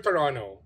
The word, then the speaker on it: Toronto: is it Toronto or Toronto It's Toronto Wow Ang daming silent letters naging two syllable so mga kem natin